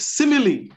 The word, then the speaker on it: simile: And I'm going to start with simile. Simile. Yeah. My focus is the last E. Simile.